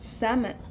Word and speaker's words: Salmon: Salmon. Salmon. I always think of fish. Salmon fish. Don't ask. That's salmon. Salmon, but I pronounce it salmon without the L.